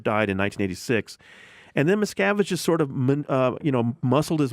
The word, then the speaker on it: Miscavige: David Miscavige. Miscavige, okay.